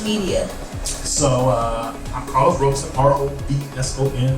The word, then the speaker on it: Robson: So I'm Carlos Robson, R-O-B-S-O-N, looks like Rob's son, pronounced Robson.